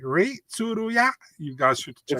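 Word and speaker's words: Rei Tsuruya: Ray Tsuruya. Ray Tsuruya.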